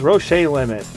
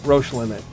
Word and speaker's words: Roche limit: My pick of the week is Roche Limit, or as Joey likes to pronounce it, Roche Limit.